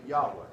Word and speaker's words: Yahweh: of God to be Yahweh J ah W now again this goes back to the German pronunciation because we would spell